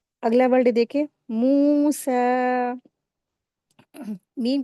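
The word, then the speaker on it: موسى: यहां पर या जो है साइलेंट है। यह कुरान मजीद की खूबसूरती है। अल्लाह पाक ने कुछ लेटर यहां पर कुछ वर्ल्ड में लगाए हुए होते लेकिन वो पढ़े नहीं जाते हैं। वो रीडिंग नहीं किए जाते हैं। वो साइलेंट लेटर होते हैं। तो यहां पर पढ़ेंगे मूसा इस तरीके से।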